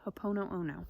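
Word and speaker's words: Hoʻoponopono: so there's something called hope oh no oh no I think that's what it's called hope oh no oh no that's how you say it so it was created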